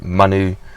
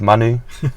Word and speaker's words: Manu: So Manu was the name that I come up with,